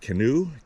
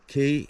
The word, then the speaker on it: Keneu: I think I'm going to go that way and go down and take a look at, I think it's pronounced Keneu, K-E-N-E-U, Keneu.